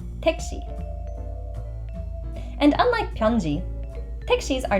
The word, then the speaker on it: 택시: Make sure you pronounce the she like the English word she. 택시.